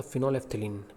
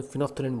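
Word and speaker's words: phenolphthalein: सही प्रोनाउंसिएशन होता है इसका फिनोलेफ्थलीन, बट हम इसको ट्रेडिशनल फॉर्म में फिनोफ्थलीन बोलते हैं।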